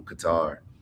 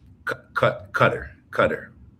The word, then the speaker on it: Qatar: We say Qatar. They say Qatar.